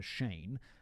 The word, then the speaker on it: Cheyne: I mean, that is, David again provided me a spelling guide, a pronunciation guide for Shane. What up, mob? Because it's not spelt the traditional way. It's spelt Cheyne.